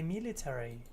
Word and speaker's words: military: At the library, the secretary read a book about the military. In American English, you're going to pronounce each of the final letters, A-R-Y. military. In British English, they often cut out the A.